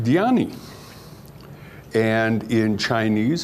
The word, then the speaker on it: Dhyani: who meditates in sanskrit that same word is pronounced diani and in chinese it's pronounced chana and you